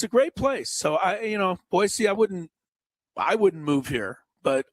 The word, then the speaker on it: Boise: And when you come here, don't forget it's not Boise. Yes. It's Boise. Yeah. And if you pronounce it right, they love you here.